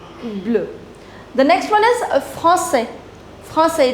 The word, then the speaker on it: français: Here S will not be pronounced, here S will be pronounced.